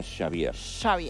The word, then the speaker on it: Xabier: No, en realidad mi nombre se pronuncia Xavier. Porque es de origen vasco.